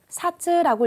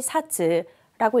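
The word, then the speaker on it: 冊: 자, 잡지 두 권이기 때문에 이거 책자 사츠라고 읽으셔야 됩니다. 자, 잡지 두 권은 자시 니 사츠라고 읽으셔야 되고요.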